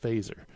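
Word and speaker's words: Feser: of God by Edward fazer spelled F e ser but it's pronounced fazer five proofs for the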